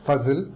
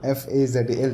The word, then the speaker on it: Fazil: Fazil, Fazal, that's how it's pronounced.